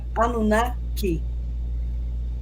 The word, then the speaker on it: Anunnaki: No acadiano, eles acrescentam mais uma sílaba. Então fica Anunnaki.